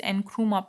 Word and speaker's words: Nkrumah: So Nkrumah, this is uh, Kwame Nkrumah. Nkrumah, this is Nkrumah pronounced, who was a son of a goldsmith and himself a teacher, was active in the independence.